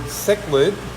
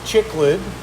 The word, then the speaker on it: cichlid: cargo and they were trying to pronounce the word cichlid and they were calling a chiclet like the gum loaches and help them